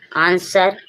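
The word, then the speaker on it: answer: आएगा W silent होगा आंसर आंसर means उत्तर डब्ल्यू के बाद ई और ई के बाद आर आया है जब डब्ल्यू साइलेंट है स्वर्ड स्वर्ड मींस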